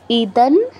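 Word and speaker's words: ইদং: যে এরকম ভাবে বলবে ইদান এই শব্দে অনুস্বারের পর ত আছে অনুস্বারের পর ত বর্গের অক্ষর থাকলে আমরা অনুস্বারের জায়গায় নয় হসন্ত উচ্চারণ করি তাই আমরা অনুস্বারের জায়গায় নয় হসন্ত উচ্চারণ করছি উচ্চারণটা কি হবে ইদান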